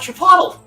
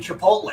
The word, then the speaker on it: Chipotle: He's like, "I want Chipotle." They're like, "Oh, you mean Chipotle." He's like, "Is that how it's pronounced?"